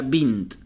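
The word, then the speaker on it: بنت: la palabra beit bright la segunda bing bing y bien pronunciada sería bint acá por partes bush bush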